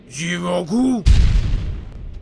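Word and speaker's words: 地獄: You go through this gritty environment selling one-way tickets to hell, or as the Japanese pronounce it, Jigoku.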